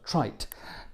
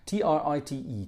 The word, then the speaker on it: trite: what a wonderful word trite trit t r i t e trite rhymes with shite which I think that